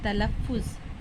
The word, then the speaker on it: تلفظ: اس طرح سے تلفظ تلف فے کے اوپر تشدید ہے اس لیے ہم یہاں 2 مرتبہ لکھے ہیں تلفظ.